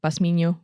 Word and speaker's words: Bosmino: Uh, my name is Basmino. Um, or Bosmino, if you can pronounce it properly.